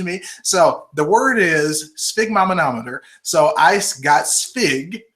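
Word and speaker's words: sphygmomanometer: pronounce the words so spig Mom had a man to meet her so spig M manometer okay so it's a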